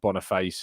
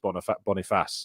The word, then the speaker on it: Boniface: I was saying like Boniface and Boniface and things like that, but apparently it's just Boniface.